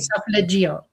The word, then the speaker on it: solfeggio: Or the solfeggio, and that's how you say it, solfeggio.